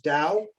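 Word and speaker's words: DAO: And the profits go to do you pronounce it Dow?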